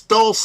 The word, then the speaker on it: Dulce: Is it pronounced Dulce? It's Dulce, man.